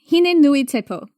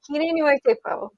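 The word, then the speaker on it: Hine-nui-te-pō: Hine Nui Tepo, I believe is how you say it. I hope I didn't screw it up. Hine Nui Tepo.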